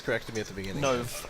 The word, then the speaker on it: Nove: Nove, correct.